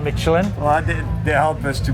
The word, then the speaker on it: Michelin: How do you pronounce that? Michelin. Michelin, not Michelin.